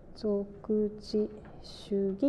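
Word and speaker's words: 属地主義: 属地主義、属地主義って読むんですけど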